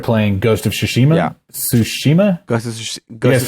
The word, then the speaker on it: Tsushima: Tsushima?